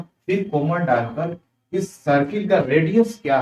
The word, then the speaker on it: chord: देखिए ये यहाँ पर ना जो एच है वो साइलेंट है, ठीक है, इसे कॉर्ड पढ़ेंगे, चौड़ मत पढ़िएगा, ये प्रोनाउंसिएशन तो बड़ी भद्दा लगता है।